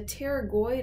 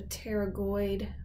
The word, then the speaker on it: pterygoid: The feet of the bat are called the pterygoid processes, and the pterygoid is crazy spelling. It's spelled with a silent PT, kind of like a pterodactyl. So pterygoid processes here.